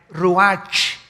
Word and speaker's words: ruach: El ruach, que se escribe R-U-A-C-H, ruach en el hebreo. Y se pronuncia igual, ruach.